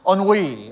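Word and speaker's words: ennui: went to google and said how do you pronounce that and said on we only is how you pronounce that word that's how a yorker pronounces on we you know actually the word is like more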